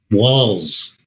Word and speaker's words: Walz: uh Governor Tim walls walls does that sound like it should be spelled with two L's and S but it's not spelled with one L and one Z Tim Walls so he